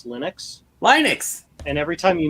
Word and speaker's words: Linux: That's tells you how to properly pronounce Linux. Linux.